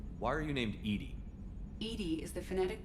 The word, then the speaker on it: EDI: a jar wow why are you named edie edie is the phonetic pronunciation of edi that is an acronym for